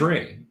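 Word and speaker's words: Rei: no like i think it's ray r-r-e-i is ray okay how do you say the last name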